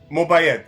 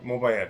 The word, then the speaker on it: Mobayed: joined with the lovely mobile am i pronouncing your name right mobile mobile okay that's it perfect spoken like a true